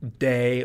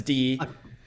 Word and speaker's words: Dee: I always mispronounce their contributions as Day or DEH, but in real life, it's Dee.